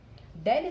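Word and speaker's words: ∂: Okay, so we pronounce it like del. Del square psi upon del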